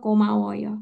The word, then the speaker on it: 고마워요: Betul ya, G-nya itu agak ke arah K, jadi jangan medok-medok, jadinya 고마워요.